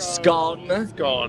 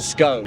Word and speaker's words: scone: Do you pronounce it scone or scone, depending on if you're from the north of England or the south?